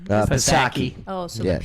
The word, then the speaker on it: Psaki: do you Economic pronounce her crisis. name? Psaki.